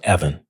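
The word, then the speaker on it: Evin: and we're turning it into a crypto called Evan. Mhm. spelled e v i n. So, but we wanted the pronunciation correct and it's crypto that is backed monetarily by these bills of exchange.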